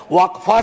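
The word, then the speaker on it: वक़्फ़: इसका इस्तेमाल हो और अलग-अलग लोग इसका प्रोनन्सिएशन अलग करते हैं। कोई वफ बोलता है, कोई वकफ बोलता है।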